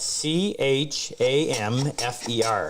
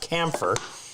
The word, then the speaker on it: chamfer: That's spelled C-H-A-M-F-E-R, not camphor. It's a chamfer.